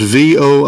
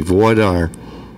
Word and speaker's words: voir dire: I guess you call it voir dire. How do you say that, sir? Voir dire? Preliminary questions for the juror? Right. It's 2 words, V-O-I-R-D-I-R-E, voir dire.